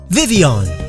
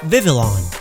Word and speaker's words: Vivillon: Vivian, not Vivillon, cause Papillon is French for butterfly.